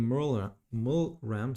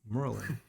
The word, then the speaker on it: Merlin: And there's one fighting Mulram, sorry. And he seems to be up on his feet. I'm probably pronouncing your name wrong, right? It's absolutely fine. Yes, It's fine. Orcish. It's Merlin.